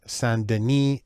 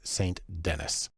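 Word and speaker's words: St. Denis: should be pronounced ruth sandini she's american so it's saint dennis the first thing we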